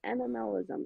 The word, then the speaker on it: MMLism: lot of people are like how do you pronounce that and i'm like it's animalism it's all things me um but uh yeah